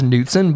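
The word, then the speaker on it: Knudson: SO, MY character's name is Ralph Fred Kenudson, which I'm sure the proper pronunciation is Nudson, but I want to go with the Labowski pronunciation. Kudson.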